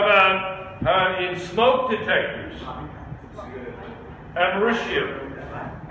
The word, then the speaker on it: americium: Americium. Spelled like America. It's called americium.